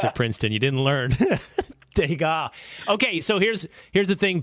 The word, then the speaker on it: Degas: And Will, you told me I mispronounced the artist's name. Yeah. It's Degas.